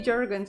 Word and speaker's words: Jurgens: Pronounced like it's spelled. He's an American artist, so it's not any exotic way to say Jurgens. Okay, Jurgens it is then, right?